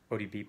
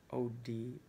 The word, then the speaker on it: OBD: So the cables we have actually run all the way down to the ODB port. OBD port. I always say it wrong.